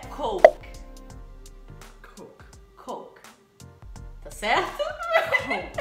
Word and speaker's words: Coke: Coke. Coke. Morre no K.